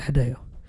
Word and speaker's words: Hideo: Yeah, Hideo.